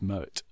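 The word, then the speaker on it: Moët: have we yeah we we're pronouncing Mo as if it were a French word it isn't it's dutch it's Moet and they would pronounce it Moet so the Queen lyrics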